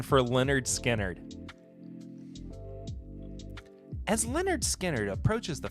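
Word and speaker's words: Lynyrd Skynyrd: beverage industry give me a break putting the phonetical the pronunciation for Leonard skinnard as Leonard skinnard approaches the 50th anniversary of its groundbreaking debut album pronounced Leonard skinnard God bless man the band announced the release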